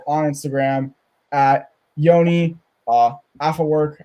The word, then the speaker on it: Afework: instagram at yoni uh after work i was about to say a4 because that's how i thought to spell it um but i i said your last name right right i said that right yes you do all